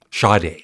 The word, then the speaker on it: Sade: we go okay 200 I've never owned Sade is that how you pronounce it shade Shade that's it I don't want somebody